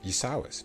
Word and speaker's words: Yasawis: on the same peninsula, I believe, in the Grey Jungles near Yasawis. Yes, that is right definitely outside the Jade. how to pronounce it. Sawis? Give us the right pronunciation, Casey. Yasawis, for sure.